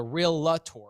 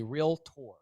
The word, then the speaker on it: realtor: estate agent a realtor it's not called a real LaTour it's called a realtor that's how you pronounce it by the way instead of going through